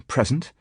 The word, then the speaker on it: present: enough, in line with the general tendency of the language to stress noun on first syllable as against verb on second, as in present and present.